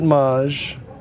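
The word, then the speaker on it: Maeght: Anyhow, I'm going to enlarge it because one of my favorite trivia about Haimey Met. You can pronounce it maj.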